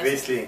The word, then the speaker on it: Riesling: Okay, the first wine is, I'm probably not going to say it right, but Riesling. Riesling. Riesling. No, Riesling, c'est correct.